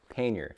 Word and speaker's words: pannier: only just learned the correct way to pronounce a word pain yer is it too late